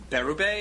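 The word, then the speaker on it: Bérubé: Iowa City Iowa and you are Michael Barrow Bay is that how you say it that's it that's it a professor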